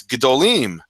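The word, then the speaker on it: gedolim: it means big and when you say when you say the the plural form it's gdolim um when you're talking about more than one big thing and the kamat turns into a shva and and there's countless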